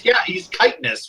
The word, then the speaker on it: chitinous: Well, he's chitinous, which I did not know is pronounced that until like now.